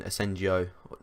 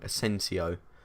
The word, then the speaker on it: Asensio: were very very good I enjoy using asenjo keep saying that name wrong asensio anyway I've used him